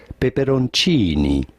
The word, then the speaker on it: peperoncini: hot chili peppers how do you go about pronouncing it in italian this would be said peperoncini okay are the animals changing i conducted this